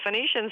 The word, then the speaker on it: Phoenician: How do you pronounce this? The uh not Phoenician scheme. Am I saying that right? You said it exactly right. The Phoenician scheme.